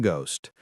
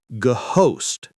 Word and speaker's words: ghost: The H is silent. We don't say ghost host. It's just ghost.